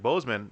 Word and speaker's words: Boseman: Boseman, as you pronounce it, right?